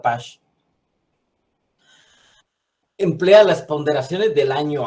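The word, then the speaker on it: Paasche: ustedes lo pueden expresar como está escrito el método de pach que es un francés que lo lo desarrolló pero se pronuncia Paz emplea Las ponderaciones del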